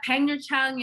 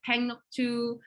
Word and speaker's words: Pangnirtung: How do you pronounce Pangnirtung? Did I get that right? Oh, that's you could. Way to say it. Pangnirtung is one way to say it. Pangnuktu, Pangnuktu, and a lot of people just call it Pang.